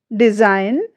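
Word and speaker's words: design: यहाँ पर जो हमारा रूल्स कहता है वो क्या कहता है, जब किसी शब्द में एन से ठीक पहले जी आता है तो जी हमारी जो वो है वो साइलेंट रहती है।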